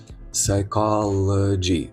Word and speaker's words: psychology: Psychology, psychology. Psychology. І в кінці, я думаю, не виникає питань, чому g а не джай psychology.